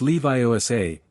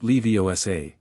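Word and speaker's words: Leviosa: It's Leviiosa, not Leosa.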